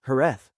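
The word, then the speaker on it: Jerez: The word Sherry is actually the English adaptation Englishization of the Spanish name Herth. Over centuries of international trade, the pronunciation gradually evolved into the name by which the wine is now known worldwide.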